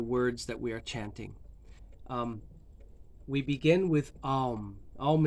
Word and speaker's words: om: spiritual power when spoken just like the word um um which most people mispronounce as om it's not om it's and that is